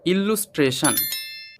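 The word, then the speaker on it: illustration: Fascinated okay next word ইলুস্ট্রেশন। এই শব্দটি যদি আমি ছোট ছোট অংশে ভেঙে ফেলি তাহলে শব্দটি হবে আই এল ইল এল US loose T আর A tray T আই ও এনশান ইলুস্ট্রেশন শব্দটির মানে হল চিত্রণ বা ছবি।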